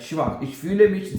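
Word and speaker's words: schwach: शवा एस सी एच डब् ए सी एच शवा जवा कि मैं बहुत ज्यादा कमजोरी महसूस कर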